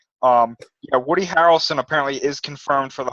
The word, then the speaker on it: Harrelson: i just a note i think i pronounced his name is woody harrison and one of the other cast I politie wrong arm woody harrelson apparently is confirmed for